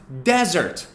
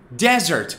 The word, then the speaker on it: desert: with 1s is pronounced desert desert the stress is on the first syllable desert it's a dry area